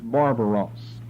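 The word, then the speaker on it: βάρβαρος: Here, Hellene is set over against barbaros, just like it sounds, barbaros. We've put this term up here for you before. Notice the double syllables there, barbar.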